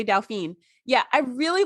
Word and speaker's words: Dauphin: Yes, the Dauphin. I always say Dauphine.